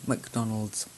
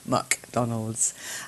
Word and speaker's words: McDonald's: the most famous One McDonald's cuz MC is MC in McDonald's it sounds like there should be an a McDonald's or a u McDonald's Andy said thanks Lynn